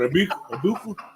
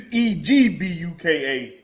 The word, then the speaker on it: Egbuka: What, Abuka? It's Egbuka. Okay. Everybody been forgetting the G, ain't they?